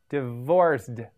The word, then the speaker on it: divorced: am divorced divorced yes there a D sound at the endend of divorced you say it divorced again divorced means a marriage